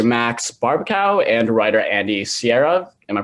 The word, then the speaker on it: Siara: Across from me is a team of Palm Springs, which is currently streaming on Hulu, director Max Barbakow and writer Andy Siara. Am I pronouncing that right?